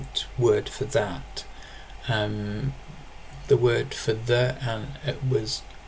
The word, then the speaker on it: ðæt: The word is pronounced that. So the difference between the adjective and the pronoun is the first letter, that as the adjective and that as the pronoun.